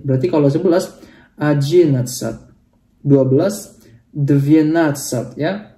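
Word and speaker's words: двенадцать: 12 dvienatsat ya. Perhatikan di sini bukan dvanatsat tapi dvienatsat ya.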